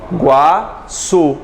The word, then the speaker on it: Iguaçu: Iguaçu. O está pronunciado?